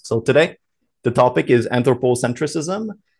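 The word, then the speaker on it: anthropocentrism: today the topic is anthropocentricism which uh you can also pronounce anthropo centrism so without the CI right here though it's up to you I say anthropocentricism because that's just the way I've always said it so um if you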